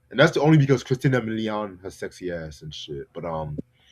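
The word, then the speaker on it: Christina Milian: I always up the Christina Million.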